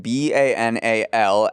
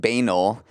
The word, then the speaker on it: banal: I said the word B-A-N-A-L out loud and pronounced it banal.